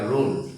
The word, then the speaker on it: wrong: এইচ যখন থাকবে তখন আমরা ডাবল ইউ কে উচ্চারণ করব না, কারণ হচ্ছে এটা আমাদের একটা রুল।